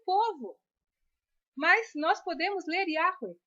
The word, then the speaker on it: Yahweh: Muitas pessoas dizem que este nome é impronunciável, mas isto não corresponde à verdade, porque pelas regras gramaticais da própria língua nós podemos ler Yahweh.